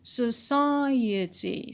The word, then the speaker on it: society: And society, stress on psi on the antepenult because of the stress shifting suffix et.